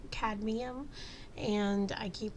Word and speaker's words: cadmium: step up and say kadium I'm I mean I'm that's not exactly how you pronounce it it's CAD cadmium and I keep pronouncing